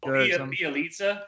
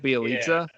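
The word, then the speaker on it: Bjelica: much nothing, and they got how do you pronounce his name, Drew? It's like Bielitsa, Nemanja. Bielitsa. Is that how you say it, Bielitsa?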